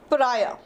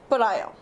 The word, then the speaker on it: pariah: is the word please make sure that you pronounce it right it is pariah pariah okay now pariah means someone who's an outcast